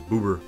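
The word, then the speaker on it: ブーバー: mag's Japanese name is bubby pronounced booby oh yeah I knew about I knew Magmar is boober my name is boober yeah my name is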